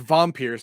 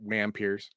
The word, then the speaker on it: Wampir: Okay, Wampiers, pronounced Vampirs. Nope, Wampiers.